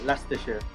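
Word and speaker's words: Leicester: Yeah, Lester. Yep. That's spelled like L E I S S T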